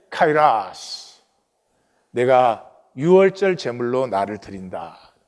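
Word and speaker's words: καιρός: 카이라스. 우리 한국은 이 라틴어 발음을 따라서 카이로스 이렇게 하는데 카이라스.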